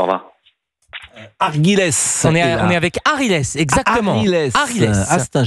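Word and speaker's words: Aghiles: On est avec Arilès, exactement. Arilès. Ah, c'est un joli prénom, Arilès. C'est de quelle origine? Bonjour, Arilès. Bonjour, je suis algérien. Alors, ça s'écrit A-G-H-I-L-E-S. Arilès.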